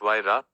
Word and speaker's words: Huayra: Named after the Incan god of winds, the Huayra, pronounced Huayra, boasts an AMG-sourced 6.0-liter V12 with 2 turbochargers, resulting in 620 horsepower and a massive 740 pound-feet.